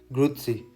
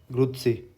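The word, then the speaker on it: Grüezi: ये हो गया ग्रुत्सी, ये जर्मनी में इतना यूज़ नहीं होता, शायद बाडन वुर्टनबर्ग एक स्टेट है साउथ जर्मनी में, वहाँ कुछ लोग बोलते भी हों।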